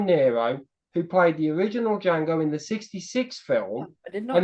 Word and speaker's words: Django: who played the original D Jango in the 66 film and he asked what's your name d Jango and he's can you spell it and he spells it the D is silent that is actually yes